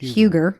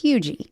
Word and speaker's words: Huger: It looks like Huger, but it's Hugie. And I'm wondering, because this lady's name is Eliza. It's spelled Huger. So it looks like Huger. It's probably Hugie.